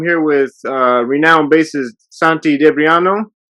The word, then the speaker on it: Santi Debriano: with uh renowned bassist santi debriano how you doing man i'm fine man thank you thank you thank you and i pronounced your name right correct is that correct santi dabriano exactly okay just want to make